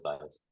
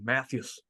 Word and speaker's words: Mathias: Oh, am I saying his last name wrong? Yeah, Matthias. I'm saying it very, Matthias. Yeah, it's Matthias. I was saying it very American. Matthews.